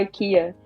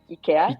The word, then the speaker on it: IKEA: nos Estados Unidos principalmente, e eles pronunciam IKEA. E aí, quando eu cheguei em Portugal, que eu vi as pessoas falando IKEA.